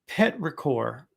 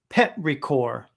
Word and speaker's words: petrichor: Petrichor. Oh, that's how you pronounce it. Petrichor. Petrichor.